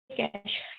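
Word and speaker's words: cache: Then आ जाती है कैश। कैश जो होती है इसको हम क्या कहते हैं, यानी लिखा जाता है ये कैशे, और इसको प्रोनाउंस किया जाए।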